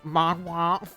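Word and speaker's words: manhwa: yeah and they call they're pronounced mom wha they're not manga okay manga is Japanese Mahwah is Korean okay oh wait wait did you pronounce it because you kind of announced it like the Chinese ones where it's month wah wah wah but I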